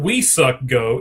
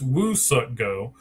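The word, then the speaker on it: Woo-Suk Go: It's not we suck go, it's Woo suck go.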